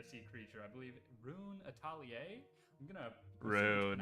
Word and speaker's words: Atelier: I believe Rune Atelier. I'm gonna Rune.